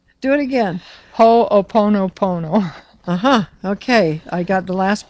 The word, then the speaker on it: Ho'oponopono: because that's, first of all, I can't possibly pronounce that name. It's got too many N's, too many O's, and too many P's. Ho'oponopono. See, what did I say? Do it again. Ho'oponopono.